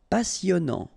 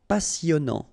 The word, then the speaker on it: passionnant: Okay, here you pronounce the double S because you've got a vowel, so it's really a strong one. Passionnant. Final T not pronounced. And then here you get this en sound.